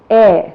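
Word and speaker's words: heir: sound with the vowel the first letter is silent let us see some examples which will make it very clear to you words like our honest air you know what an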